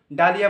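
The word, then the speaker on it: dahlia: না এইচ তাহলে মানে সাইলেন্ট মোডে মিনা যায় সাইলেন্ট মোডে অ্যাকচুয়ালি উনা তো চুপচাপ মিনা যায় এইচ মিনা কিন্তু উনা তো আবার চুপচাপ ডালিয়া বানানে ডি এ এইচ এল আই এ ডালিয়া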